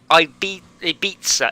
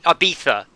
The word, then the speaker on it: Ibiza: in the same way you shouldn't call it paris or i'd be a pizza it should be should be ibiza it's a pizza you shouldn't pronounce it